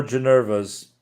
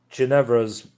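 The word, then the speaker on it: Ginevra: Just like Rishmotus von Adduct's husband, poor Janeva's spouse or is it Janevra's? Am I saying it wrong? I am. Janevra's spouse is a superstitious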